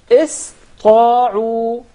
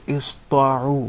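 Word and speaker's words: اسطاعوا: are not educated enough would tend to mispronounce the letter Sin, and instead they would pronounce it as Sad, because it suits more the Ta.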